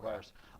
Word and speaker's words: VRSX: It's spelled VRSX, but pronounced Okay. Verse.